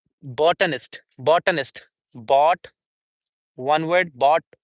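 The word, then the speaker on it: botanist: Botonist would be in the British English botonist. And in American English it would be bonist.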